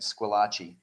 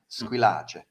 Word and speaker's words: Squillace: And so I spent my whole life pronouncing it Squillace until I met my wife from southern Italy. And my wife promptly informed me that I do not pronounce my name correctly at all. It's more like Squillace.